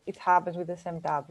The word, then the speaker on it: SemTab: So we discussed a little bit about the benchmarks that is used by the semantic Table Challenge. Am I saying it correctly? Yeah, it's SEMTAB.